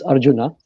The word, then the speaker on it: Arjuna: Yeah, in India the J is a J, unlike a Y here sometimes in Europe. So it's Arjuna, and it is actually Okay.